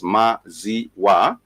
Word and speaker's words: maziwa: Let me just put it, it has 3 syllables, maziwa, for milk, maziwa, maziwa, maziwa.